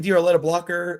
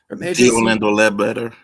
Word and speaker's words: Orlando Ledbetter: Diorletta Blocker? Is that how you say his name? Orlando Ledbetter.